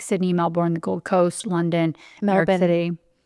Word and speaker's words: Melbourne: in Australia, like Sydney, Melbourne, the Gold Coast, London, New York City. Melbourne is how you say it. Oh, Melbourne. Yeah, okay. you don't say the R's.